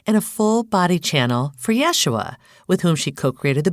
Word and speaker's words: Yeshua: So for any potentially Jews that are listening, the pronunciation in Hebrew and Aramaic is Yeshua, but he says that Yeshua is fine as well,